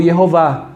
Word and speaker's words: Yehová: A mesma coisa aconteceu com Jeová, ou Yehová, que é o nome de Deus na pronúncia original.